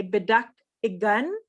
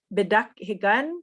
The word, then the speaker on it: bidakhigan: Some people might say bidakhigan, kind of leaving the H out. Bidakhigan, bidakhigan.